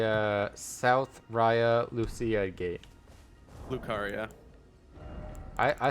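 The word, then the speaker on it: Raya Lucaria: yeah it's the uh South Raya Lucia gate lucaria I I said it right yes you did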